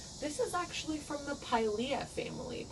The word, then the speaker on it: Pilea: is actually from the pailia family pailia pilea however you want to say it i think pailia would be the technical lat correct latin pronunciation um so this one